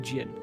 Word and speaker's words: Jin: an evil evil man Zen sorry not Zen Jin they actually pronounce it Jin okay sure you did